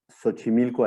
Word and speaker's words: Xochimilco: universidad autónoma metropolitana xochimilco así se pronuncia la equis aquí en méxico tiene varias pronunciaciones se pronuncia como como como che y se pronuncia como ese como con jota también como en el caso de méxico que suena como la jota tiene esas tres pronunciaciones la la xc ppd